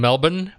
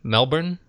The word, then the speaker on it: Melbourne: your day in in Melbourne Melbourne Melbourne with just a just a couple of syllables uh but again nick